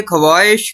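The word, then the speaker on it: ख़्वाहिश: उर्दू जुबान का एक कायदा है कि जब खे के फौरन बाद वाव आता है तो वाव साइलेंट हो जाता है जैसे ख्वाहिश खामदा खवा मखा ख्वाब ख्वाजा वगैरह लेकिन यही वाव जब खे के बाद खवातीन में आया तो कतन खामोश नहीं रह सका इसे कहते हैं सोबत का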